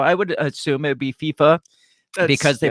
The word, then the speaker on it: FIFA: guess well most uh most other countries don't pronounce the I as an eye or an like Spanish it's primarily like South America and Spaniards and stuff so I would assume it'd be FIFA because they pronounce the